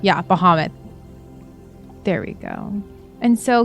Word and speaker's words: Bahamut: he worships is bahamut sorry if i don't pronounce that correct muhammad yeah bahamut there we go and so he admires dragonborns